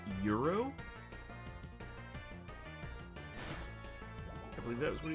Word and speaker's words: gyros: I used to think that they were called Gyros, but I was corrected by someone a few days ago where he said it was called, it's pronounced something like Euro.